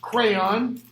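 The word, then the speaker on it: Creon: priest you got and his name is pronounced crayon brother of Jocasta or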